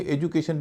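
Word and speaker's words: education: बड़ा रोचक शब्द हैय इसमें डी है डी का उच्चारण ज भी होता है ड भी होता है ई डी यू सी ए टी आई इसे एजुकेशन भी कहते एजुकेशन भी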